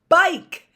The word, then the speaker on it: bike: them be Ike i-k-e e is silent but I learned how to spell like l-i-k-e so now I know how to spell bike b-i-k-e and I bet you